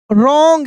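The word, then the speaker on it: wrong: एस was something was रॉन्ग यहां पे W silent है। डब्ल्यू प्लस आर यानी डब्ल्यू के तुरंत बाद आर आता है तो डब्ल्यू साइलेंट रहता है। आर का उच्चारण होता है।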